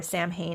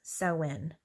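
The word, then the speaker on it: Samhain: The ancient Kelts used to call the time of the longest night of the year saw. Uh they believe or Sam Hayne is how it's spelled, but it's sin.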